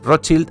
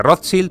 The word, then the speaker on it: Rothschild: través de Nathan meer pasa a ser pronunciada en inglés y de rothchild pasan a ser los rothchild no obstante yo conservaré